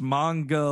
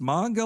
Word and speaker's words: manga: Mae and it's pronounced manga like conga that's how that's how it always stuck with me since I'd of like it's manga like conga that says how I